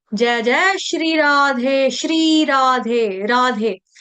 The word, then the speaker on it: श्री: श्री नहीं बोलेगा कोई ना ही श्री बोलेगा सपेरे वाला स सूरज वाला नहीं है श्री श्रम वाला मेहनत वाला श्रम का मतलब होता है मेहनत करना श्र श्र श्री श्री दीर्घ मात्रा क्लियर हो गया समझ